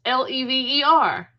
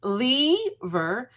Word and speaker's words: lever: There are two common ways to pronounce l e v e r. Mhm. Long e and short e. Lever and lever.